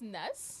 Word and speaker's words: N3S: well it's actually pronounced NES okay yeah NES yeah so it used to be NES but I changed the e to a three for various reasons okay